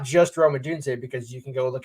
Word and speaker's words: Odunze: I'll use the easiest example of Michael Penix and Rome Odunze, and it's pronounced Odunze. I'm not saying you pronounce it wrong, but just for anybody wanting to listen, it's Odunze, not Odunze, not Odonze, not Romeo, whatever.